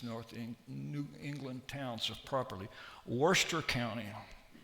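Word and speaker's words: Worcester: Worester County. I guess it's like the same as Worershir sauce.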